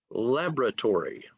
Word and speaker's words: laboratory: Laboratory, laboratory. In British English, they say laboratory, okay? It's a little different in British English, but in American English, it's laboratory.